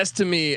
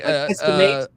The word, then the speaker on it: Estime: Notre Dame with how do I pronounce this guy's name again? Audric Estime. Yeah, Estime. Estime.